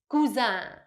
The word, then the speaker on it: Cousin: exactly the same but of course we pronounce it the french way so cousin the female version is cusina and the male version is kuzan then we have the aunt